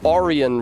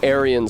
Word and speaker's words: Arianists: Arianists, which is pronounced Oran rather than Aryan. so that people don't get confused with 20th century racial politics.